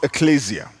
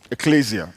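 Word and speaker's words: ekklesia: I'm sure some of us have heard it pronounced Ecclesia Ecclesia e k k l e s i a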